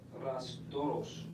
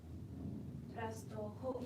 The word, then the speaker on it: Rastrojos: the paramilitary organization Los Rastros. I'm not sure if I'm saying that right. He actually had a picture of this guy. Rastrojos. Wait, excuse me. Rastrojos. Yeah, you said it right.